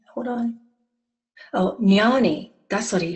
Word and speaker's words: jnani: He says it's pronounced like canyon. Hold on. Oh, jnani.